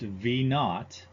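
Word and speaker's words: V₀: V sub 0 is actually pronounced V naught, and it means velocity at time 0, also known as the initial velocity.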